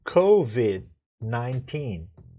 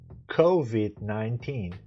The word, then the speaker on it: COVID-19: Então a pronúncia correta é COVID-19. COVID-19.